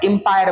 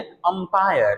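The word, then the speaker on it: umpire: अंपायर एंपायर बोल देते हैं। वो नहीं है। अंपायर ये सही प्रोनाउंस अंपायर है।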